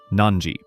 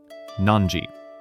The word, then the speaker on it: なんじ: I will say it first. Nanji. Now, your turn to say it. Nanji. Let's say it one last time together. Nanji.